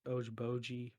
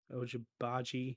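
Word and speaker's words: Agbaji: what's that kid's name oh ojiboji oh ojibaji i don't have a clue oh your body yeah you said it right the second time uh he's pretty darn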